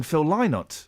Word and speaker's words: Phil Lynott: Well, I think that's the correct way of pronouncing Phil Lynott.